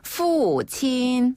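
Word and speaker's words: 父亲: 아버지 아버지를 푸친이라고 하는데요 자 푸는 F 발음 푸친 푸친 한번 더 푸친 후 네 한자 부친을 그대로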